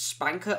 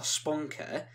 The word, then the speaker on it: SPNKr: this because either way i've heard people pronounce it as spanker or sponker either way it sounds